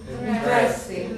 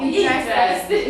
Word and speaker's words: interesting: Interesting. No. Interesting. Yes. It's funny because it's a long word, but this is on the first syllable.